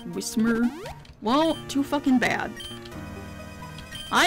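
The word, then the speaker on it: Whismur: It's not Wishmer, it's Wismer.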